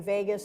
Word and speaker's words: vagus: nerve and it's interesting Vegas and Las Vegas pronounce the same way but Vegas comes from